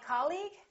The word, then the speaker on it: colleague: words the second one did you say colleague or colleague he's my colleague that's right once again it's the first syllable repeat after me colleague colleague he's my new colleague let's look at the